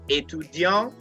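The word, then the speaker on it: étudiant: suisse to deonte etudiant remember for the male i didn't pronounce the t but for the female student i pronounced the t so you have to toggle between etudiang for male and a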